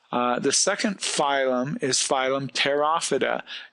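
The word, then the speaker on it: Pterophyta: second phylum is phylum tera vaada you will note that the P is silent these are the seedless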